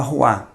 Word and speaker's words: roi: A palavra roi, que significa rei, uma pronúncia muito direta.